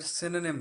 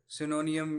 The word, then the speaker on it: synonym: तो पहले ये मैं बता दूं कि वर्ड सिनोनिम है, सिनोनियम या इस तरह का कोई और नहीं है, जैसा कि मैंने कुछ बच्चों को बोलते हुए सुना है। द वर्ड इज सिनोनिम, इसकी प्रोनाउंसिएशन ऐसे है।